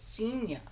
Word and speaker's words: Xenia: Is Xenia, spelled with a Z, like Xena. I should say spelled with an X. But it's Xenia.